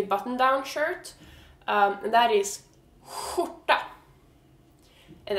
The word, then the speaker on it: skjorta: shirt, and that is skjorta. And it's spelled like this, SKJ. And KJ is sh, SKJ is whoo. So that's kind of like when you get scared and you're like, whoo, like, good thing we didn't die.